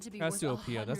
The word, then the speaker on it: Cassiopeia: The stolen Cassiopeia necklace is said to be Cassiopeia, worth that's how you 100 pronounce million it.